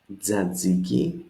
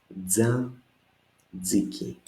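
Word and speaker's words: τζατζίκι: Tzatziki. You notice this tough zeta diphthong that we just saw before. Tzatziki. 3 syllables again. Tza, zi, and ki.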